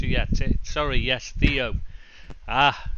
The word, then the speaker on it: Theo: got it sorry yes Theo ah now I know you mean Teo yeah of course yeah it's spelled Theo in English so I read it it's the you know